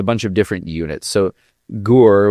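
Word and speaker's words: HUR: So, Gore, which is Ukrainian Military Intelligence, or HOR, if you want to uh sometimes pronounce it, um they they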